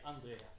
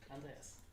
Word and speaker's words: Andreas: You don't say it, Andreas. Oh, how do you say it? Andreas.